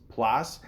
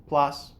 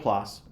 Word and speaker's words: Plasse: When I first saw his name, Christopher Mintz Plasse, I had to look it up, how to pronounce his name. I just assumed maybe it was French, like Plasse or something, but no, just Plasse, plain old Plasse.